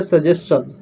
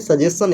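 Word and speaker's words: suggestion: इसको सजेशन पढ़ते हैं, चन। जैसे क्वेश्चन में STI को क्या पढ़ते हैं, क्वेश्चन अंत में ना, तो यहाँ पे चन ही पढ़ेंगे, सजेशन है, सजेशन। करेक्ट प्रोनाउंसिएशन क्या होगा, प्रोनाउंसिएशन सजेशन। ओके, देखिए यहाँ पे V1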